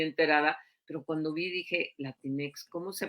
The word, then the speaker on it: Latinx: no estoy muy enterada Pero cuando vi dije latinex cómo se pronunciará latín y luego cada quien le pone